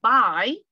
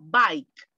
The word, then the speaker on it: bike: de la forma corta procure pronunciar la letra k porque si usted sólo dice by está diciendo o comprar o adiós entonces cuidado acá bike bike taxi de un accidente